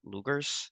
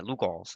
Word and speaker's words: Lugol's: asked me about the Lugers, whatever you pronounce the guy's name, little iodine thing. Luger's iodine. What else? Yeah, Lugol's, that's what it is.